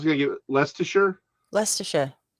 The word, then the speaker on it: Leicestershire: okay i was gonna get less to sure leicestershire not less not likes to shut well this would be the leicestershire yeah lester lysa shire edinburgh no that's edinburgh